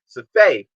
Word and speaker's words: Safai: respect on names um safai safay is i believe the correct pronunciation i'm sorry for mispronouncing